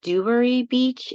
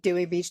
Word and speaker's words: Dewey Beach: It's I believe it's in Dwery Beach if I'm correct. Dewey Beach down.